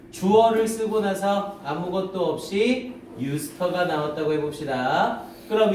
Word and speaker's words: used to: 자, 주어를 쓰고 나서 비동사나, 이거 왜 하기 전에 주어를 쓰고 나서 아무것도 없이 유스터가 나왔다고 해봅시다. 그럼 이 유스터가 하나의 조동사가 되죠. 그래서 유스터, 발음도 used to가 아니라 유스터라고 발음이 돼요.